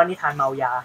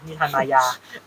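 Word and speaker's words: นิทานมายา: ม นิทาน นิทาน นนก เมื่อ กี้ อ่าน ว่า นิทาน เมายา นิทาน มายา xbb revival buy ครับ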